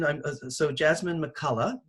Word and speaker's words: McCulligh: And yeah, so McCulligh, is that the correct pronunciation?